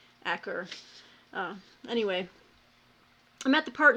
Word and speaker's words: Acre: end of the Crusades every time I see that I see like acre but it's I've heard it pronounced Acker anyway I'm at the